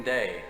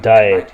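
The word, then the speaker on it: Daaé: an ingenue named christine day some of his things were found at the turn of the century so he must have died sometime by the way it's pronounced diet not day christine day any relation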